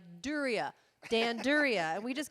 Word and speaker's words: Duryea: And what's great about the show is if I mispronounce it, then John's right there to be like, Duryea, Dan Duryea.